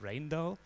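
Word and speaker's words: Rijndael: if you read this letter in fact it's pronounced rain though and the mechanism is very simple it's basically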